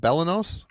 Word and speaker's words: Belenos: band's second album uh the band is called Bellos and I actually looked up how to say